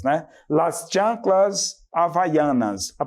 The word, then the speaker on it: Havaianas: Eles falam também assim como nós, havaianas, né? Las chanclas havaianas.